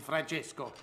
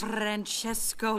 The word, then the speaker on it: Francesco: car his name is Francesco Bernoulli no wonder there's a crowd wait why do you know his name I don't say it like that it's three syllables not ten what he's nice to